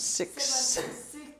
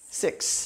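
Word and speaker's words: six: So 6, you have to say, you have to have that little ending sound. 6. 6.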